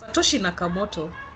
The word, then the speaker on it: Satoshi Nakamoto: And everyone is asking who is this Satoshi Nakamoto? What is it? The blockchain I have a feeling I butchered that. Let me just check. It's been a while since I Yes, Satoshi Nakamoto.